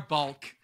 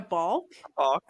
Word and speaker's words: balk: Or a bulk. Except a bulk is much less. A bulk. You mean a balk? A balk. A balk? Yeah. It's a hard word to say. It's spelled B-A-L-K.